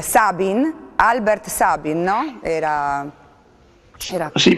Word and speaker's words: Albert Sabin: Stavo dicendo che lei da virologo e appunto allievo di Sabin, no, che poi come si pronuncia? Sabin? Albert Sabin, no?